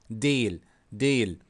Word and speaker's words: değil: But as you see here, soft is not kind of not pronounced. Değil, değil.